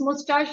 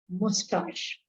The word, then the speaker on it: mustache: And mustache, what is mustache? You know very well? Yes, ma'am. Yes. And the word is pronounced as mustache. Some people pronounce it as mustache also.